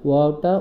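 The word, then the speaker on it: و: নুন ওয়াও, ওয়াওটা উচ্চারণ করার সময় ওয়াওটা উচ্চারণ করার শুরুতে ঠোঁটটা গোল হবে, এরপর আস্তে আস্তে ঠোঁট দুটো একটু ছড়িয়ে যাবে, আবার যখন ওয়াও বলার শেষ অংশে আবার ঠোঁটটা গোল হয়ে যাবে, এরকম শুরুতে গোল রাখুন।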